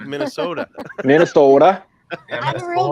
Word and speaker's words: Minnesota: She said, like, Minnesota. Minnesota. I have a real good friend there. You got to hit that hard D in there for the T.